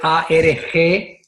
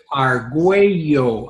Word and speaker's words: Argüello: Sí, eso que dices, yo tuve que hacer en varias ocasiones el de hacer Arguayo. Y así, Sí. that's the way you pronounce it. Arguello, ajá, Arguello, pero cuando te lo ponías ahí con la diéresis de la LL, pues, se perdía.